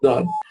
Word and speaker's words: ض: This letter can be pronounced from either side, left or right, of the tongue, or from both sides of it simultaneously, right? So there's 3 ways to pronounce dad.